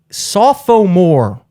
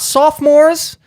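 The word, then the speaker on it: SoPho More: um it is guys saw Pho more not sophomores not sophomore sophomore that's how it's spelled I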